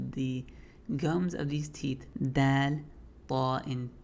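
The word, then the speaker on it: دال: In my opinion, it's a little softer than d, but it's dal.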